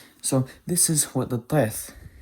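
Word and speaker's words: טית: So this is what the teth sounds like. Again, it is like the emphatic T that exists in the Arabic language.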